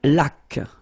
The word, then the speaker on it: laque: Une laque. Remember the rule when you get this QU, well, U is not pronounced, so you get k like that.